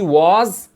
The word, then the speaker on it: was: Lembrando que was, preste atenção na pronúncia, é was, com sonzinho de Z no final.